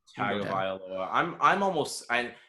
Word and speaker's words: Tagovailoa: pronounced his last name correctly is honestly amazing. Tagovailoa.